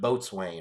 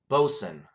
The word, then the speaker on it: boatswain: the tan bosun cuz it looks like boatswain or boatswain or boatswain boatswain but it says bosun in parentheses there how to pronounce it both suvir's are unique brews